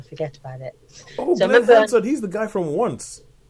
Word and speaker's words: Glenn Hansard: Glenn Hansard. I keep wanting to call him Greg Hansard, but Glenn Hansard has a cameo in it